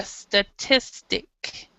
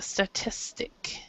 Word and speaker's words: statistic: it's a so a statistic a statistic so the stress is actually in this part of the word here so we have somebody